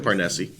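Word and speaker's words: Parnesse: the deck is uh parnessi parnisi yeah how do you pronounce that i like parnessi okay with the silent e all right so this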